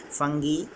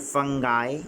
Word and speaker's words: fungi: up from this fungi fungi kingdom today funky in British pronunciation and fungi in American pronunciation fungus they are referred